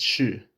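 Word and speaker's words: 侍: For example, the character for temple, pronounced si in Mandarin, is used in the character meaning to serve, pronounced shi, and also in poem, shi.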